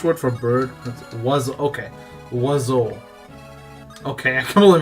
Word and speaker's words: oiseau: Oiseau. Okay, I completely mispronounced it then.